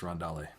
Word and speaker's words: Rondale: Chris G did remind me it is pronounced Rondale.